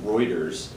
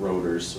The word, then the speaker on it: Reuters: learned that the uh newswire service is pronounced reuters not rotors which i did last week i also realized that